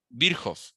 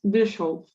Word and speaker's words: Virchow: Entonces, el nacimiento de la histopatología o patología celular se da por Rudolf Virchow, que ahí dice Virchow, ¿no? Pero se puede pronunciar Virchow.